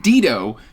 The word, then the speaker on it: Dito: And of course, I am talking about Terravinium Chronicles, Book 1, Debunked, by Dido Abbott. And I'm saying Dido because he says it rhymes with Cheeto, so I'm going to go with Dido Abbott.